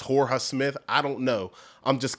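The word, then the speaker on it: Jorja Smith: actually pronounced Georgia Smith I don't know if the Jay's um on some Spanish stuff where the Jay is silent it's Horus Smith I don't know I'm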